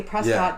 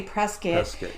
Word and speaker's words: Prescott: prescott phoenix and it's it's spelled prescott but when you get there and you're from new york and you say prescott they say prescott and i was at